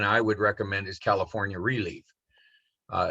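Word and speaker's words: ReLeaf: would recommend is california relief uh it's spelled just like it sounds r e capital leaf so they also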